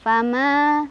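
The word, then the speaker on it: فما: Cara bacanya panjang 2 harokat. Fama, 2 ya, jangan banyak-banyak. Fama itu kelebihan. Yang betul adalah fama segitu, fama segitu.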